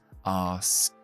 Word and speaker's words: asked: Y luego la ED, después de un sonido sorda, la pronunciamos como una T. Así que es asked.